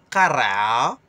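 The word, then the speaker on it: قرعة: Ka, ra, ka. C'est un cul dans la gorge, mais comme les poules.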